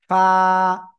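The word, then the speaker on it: ف: নিচের ঠোঁটের পেট, আমার দিকে আমার দিকে আমার দিকে, নিচের ঠোঁটের পেট, উপরের দুই দাঁতের আগায় লাগাবো, লাগিয়ে হালকা বাতাস বের করব, করে আমরা একালিফটা নিয়ে উচ্চারণ করব। ফা, ফা, সবাই একসাথে জোরে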